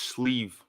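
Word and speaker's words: sliabh: sleeve right right guys it's pronounced sleeve they look McKee is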